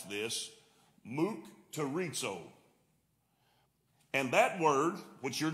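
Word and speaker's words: μυκτηρίζω: The word from which mocked is translated comes from the Greek word, and I actually looked up how to pronounce this, mukterizo.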